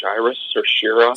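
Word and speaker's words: Shiras: there are um I I believe they're pronounced Cyrus yeah seriously yeah no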